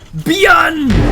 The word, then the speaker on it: ByuN: one man army but don't pronounce it one because it's beyond current world rank 16.